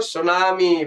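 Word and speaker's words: tsunami: wave तो क्या लगाओगे सुनामी बहुत अच्छा वेरी गुड बहुत-बहुत अच्छा ये चीज आप ध्यान रखना ये हो जाता है सुनामी सुनामी बेटी साइलेंट होता है आपको पता है है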